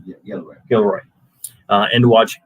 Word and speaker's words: Gilroy: Did I pronounce that right? Yeah, Gilroy.